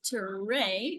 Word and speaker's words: Tere: Well, let me just say right away, my name is Tere, so it kind of rhymes with hooray.